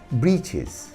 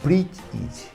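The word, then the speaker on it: breeches: इसके आम लोग पढ़ते हैं ब्रीचेस और इसकी सही प्रोनाउंसिएशन होता है ब्रीच इज।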